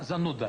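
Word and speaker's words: зануда: E em russo é zanuda. Zanuda. Uma pessoa chata, zanuda. Pronúncia perfeita.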